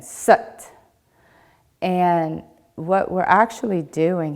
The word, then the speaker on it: Sat: Now when we're doing it, the Sat kind of comes out like but. So as in Sat.